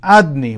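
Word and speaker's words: Adonai: is written he says he's pronounced as adne we say adne adne means the name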